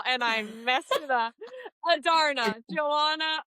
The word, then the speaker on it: Adarna: Adarna. Joanna Adarna.